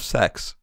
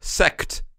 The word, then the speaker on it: sect: Berg's 5 minutes of sex. Nice. Peter, take that out. Come on. No, that has you just have to pronounce the T a little more.